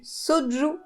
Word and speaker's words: soju: cette liste et pas des moindres c'est du soju je pense que c'est comme ça que ça doit se prononcer c'est une boisson coréenne j'avais trop hâte